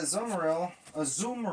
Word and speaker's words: Azumarill: And the crazy thing is with that Azumarill, I guess is how you pronounce it. Ain't that how you pronounce it? Azumarill. Yeah, Azumarill. Yeah.